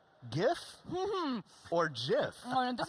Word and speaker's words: GIF: This is GIF. If you look at the G, it's a hard G. There's only one G I've ever found in English that's a J, and that's giraffe.